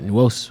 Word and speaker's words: Nwosu: Yeah, Nwosu. Wosa? Wosu. Wosu. Wosu. Okay. You don't say the N? No, you do, but it's like Wosu. Nwosu.